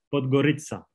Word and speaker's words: Podgorica: No sé si lo pronuncio. Podgorica. Podgorica. Podgorica, ¿así? Eso es.